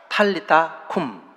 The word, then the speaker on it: 탈리타 쿰: 하신 말씀이 바로 달리다굼 원문을 원문의 발음을 그대로 살리면 달리다 쿰 이라는 말이에요 탑 있다 쿵 탈리타 쿰 한 글자만 틀리고 똑같죠 그 뜻도 죽은